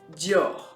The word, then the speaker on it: Dior: Okay, the French pronunciation is Dior.